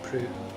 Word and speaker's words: Proulx: So it's spelled Proulx, but it's actually pronounced Prue.